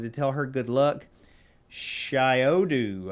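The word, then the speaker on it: Shyodu: tell her good luck shiodu i think is how you pronounce it s-h-y-o-d-u instrument company and uh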